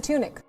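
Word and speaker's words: Tunick: nude photo shoot by renowned american artist spencer tunis spencer tunic spencer tunic equals 635 elijah it's spelled wrong l e l i j a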